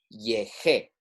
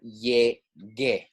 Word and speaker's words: llegué: llegar, following the rules, it would be yeje, right? Yeje. We want to maintain that hard consonant. We want to say llegar, llegue, right? So we have to include that U to make that hard G sound.